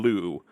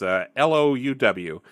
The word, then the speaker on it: Louw: If you're curious, we're using Cowboy World by Wynan Liu. I think we mispronounce that person's name every time. Feel bad about that, but it's Louw.